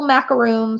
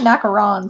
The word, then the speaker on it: macarons: colors six or seven colors so a little macaroon so they just sit just like this on your plate or on your on your place if you like mapper actually they're called macarons that's what they're actually pronounced my daughter was